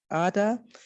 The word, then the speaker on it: Ada: And in my novel, we have a character called Ada, which can also be pronounced as Ada or Ada.